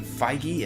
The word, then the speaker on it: Feige: I want to tell you about apparently Kevin feige I think that's how you say his name